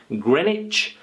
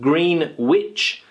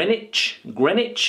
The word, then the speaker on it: Greenwich: this word is pronounced Grenich Grenich Grenich Grenich okay this sound here is a CH sound Grenich not green witch grenwich I remember a